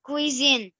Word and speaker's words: cuisine: بص اسمع الاي والاي بتتنطق كانها وي فبتقولي فبتقول ان كوي زين